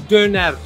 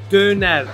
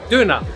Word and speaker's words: Döner: It's Döner. Okay, the Döner. The authentic Turkish way to say it is Döner. But if you say it in German, we say Döner.